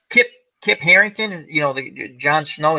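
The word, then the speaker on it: Harington: name Kip something kid Carrington kit Carrington thank you another name I've butchered did I say kit Carrington what am I talking about it's Harrington he did a remake of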